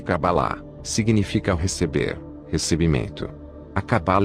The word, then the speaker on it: Kabbalah: palavra cabala o branco cuja pronúncia mais próxima do original é kabbalah significa receber recebimento acabar